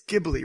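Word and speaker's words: Ghibli: isn't any is it it's gibl right that's how you say it yeah okay I heard someone s jibble once and I was like what the okay anyway so any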